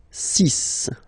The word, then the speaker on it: six: And be careful here, because even if it's ending with this X, well, you'll have to pronounce it like S, okay? So you get the six pronunciation.